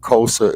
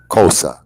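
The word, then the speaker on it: Xhosa: yeah yeah yeah yeah kosa is spelled x h OA kosa and that there is the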